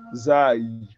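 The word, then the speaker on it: زاي: So the person that doesn't know how to pronounce Zai, for example, here. So it may say Fizai, Fizaim of Toha. Is it Zaim of Toha? Huh? Zai. We said it ends with yeah.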